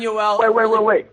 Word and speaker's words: Yoel: Yeah, he sound like he pronounced it like it's a Jewish name, like Saul or Saul or whatever. He called him Yoel, and I tried to tell him it's Yoel, porra caralho.